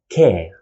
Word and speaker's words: ك: we pronounce it as k care just like k sound in english care let's see an example